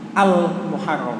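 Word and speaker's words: المحرم: adalah bulan Muharram Hai Muharram itu dalam bahasa Arabnya pakai alif lam al-muharram Hai Kalau tidak ada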